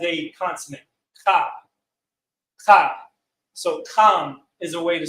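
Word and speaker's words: חם: So technically the correct way to say Ham is Kam with a strong CH sound to it.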